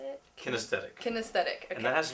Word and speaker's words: kinesthetic: Kinesthetic.